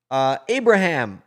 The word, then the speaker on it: Ibrahim: And he said, how to pronounce it in English is Abraham.